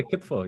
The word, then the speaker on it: kitfo: What about part of the pronunciation, but kitfo or kifo or something is like, Oh yeah, kitfo.